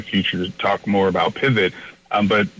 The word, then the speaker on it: Pivet: to talk more about pivot but pivot Communications we spell it p-i-v-e-t it's the phonetic spelling for the word and that e is